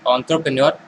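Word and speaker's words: entrepreneur: Clear है, इट्स एंटरप्रेन्योर, correct pronunciation it's एंटरप्रेन्योर।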